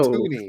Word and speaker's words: toonie: It's No, toony. that's It's spelt the same way except for the first letter.